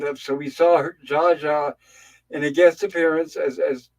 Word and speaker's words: Zsa Zsa: Eva and Zessa Gabor, What's that? Eva and Zessa. No, no, it's Eva Gabor and Zsa Zsa Gabor. Oh, the Jaza. Well, it's Right, spelled with a Z.